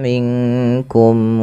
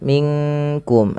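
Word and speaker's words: مِنْكُمْ: Kemudian berfal minkum. Ah ini yang sering terjadi bukan minkum tapi dia samarkan ke huruf kaf.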